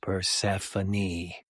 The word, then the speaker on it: Persephone: Her name has always been weird as fuck, but it's pronounced Persephone.